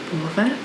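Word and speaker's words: повар: So the O is stressed there, so we say O. Povar.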